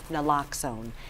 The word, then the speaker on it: Naloxone: Naloxone. Naloxone, so that we can maybe combat some of the overdoses, but you still need to call 911.